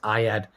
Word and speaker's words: Ayad: yeah um um uh ayad i had uh uncle bruce i noticed you pronouncing my name incorrectly this morning don't expect you to remember but it's pronounced i add like in math class i add i add